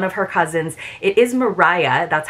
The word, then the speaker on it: Maria: bit because one of her cousins it is Mariah that's how it would be pronounced but uh it do it is spelled